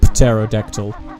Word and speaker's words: pterodactyl: Pterodactyl. Now I'm trying to think of other words with silent letters like knight, knight.